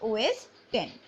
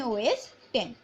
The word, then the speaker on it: OS X: All of the recent version are known as OS X, pronounced OS 10.